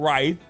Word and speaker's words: writhe: Well, it's called writhe.